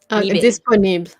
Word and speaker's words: disponible: Disponible. So disponible. Disponible. You don't put the emphasis on the end.